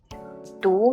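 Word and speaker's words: 读: that your friend has already read the text do means to read and E already so e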